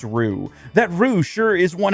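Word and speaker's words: roux: That row sure is it pronounced row ru? I think it's pronounced rue.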